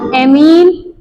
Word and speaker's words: ऐमीन: NH3 double M वाला अमीन हिंदी में लिखा जाएगा तो अमीन ऐसे लिखा जाएगा अमीन इसको ऐसे लिखा जाएगा इसको ऐमीन इसको ऐमीन अब समझ में आया क्या प्रोनाउंसिएशन करना है अमीन की ऐमीन ठीक है ये अमीन